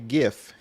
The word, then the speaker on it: GIF: How do you pronounce the word GIF? I say GIF. Okay. Yes. Most people do. I'd be saying Jeff, but don't hate me.